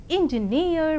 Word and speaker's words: engineer: And now the words stress, the words ending with suffix ee, eer and air are stressed on the the syllable itself, that is payee, addressee, employee, absentee. And engineer, volunteer, career, mountaineer, millionaire and questionnaire. And let us see accent in the compound words.